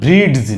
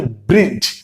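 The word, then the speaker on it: bridge: আপনি শুধু মনে রাখবেন কোন শব্দের শেষাংশে যদি ডিজিই দেখেন তাহলে বুঝতে হবে এর উচ্চারণ হচ্ছে জ।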